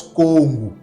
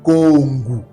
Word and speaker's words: Kongo: Mais ça c'est la bonne prononciation, c'est pas Congo, mais c'est Kongu.